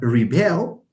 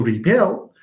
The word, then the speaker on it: rebel: Okay, that's why we have rebel, to rebel, but the noun, sorry, the person rebelling is called a rebel.